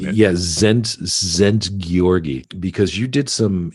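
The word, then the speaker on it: Szent: Yeah, Zent Georgi, because you did some investigations to find out what is prana.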